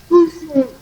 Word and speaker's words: cousin: Cousin. Cousin. OU is U and IN is A, so it is cousin.